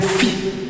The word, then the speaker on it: phi: This one is a phi, and you can only pronounce it better in the pronunciation from the word graphic. The phi.